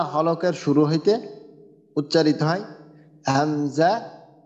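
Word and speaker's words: همزة: এই যে শুরু থেকে হামজা আর হা এই যে এটা হামজা আর এটা হা তো এই দুইটা হরফের উচ্চারণ হবে কণ্ঠনালী থেকে কণ্ঠনালীর একবারে শুরু থেকে শুরুর ভাগ বলা হয়েছে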